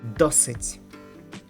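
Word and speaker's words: досить: say with breath d, in Ukrainian we say it hard, like tough d, d, d. Like in the word dosit, dosit, which means enough.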